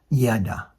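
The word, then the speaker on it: ידה: There is a word in Hebrew that can be transliterated into English as YDH. This is pronounced as Yada, meaning praise. This word was combined with the name of the Father, pronounced Yahweh.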